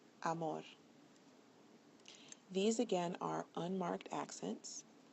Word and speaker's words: amor: The following words follow rule number 2. So listen carefully. Español, regular, mayor, amor. When you listen to them, you'll find that the bolded syllable is the one that receives the stress.